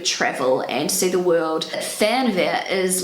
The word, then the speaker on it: Fernweh: This word is actually really hard for native English speakers to pronounce. I'm going to do my best. Fernweh. So this is what it sounds like on Google Translate. Fernweh.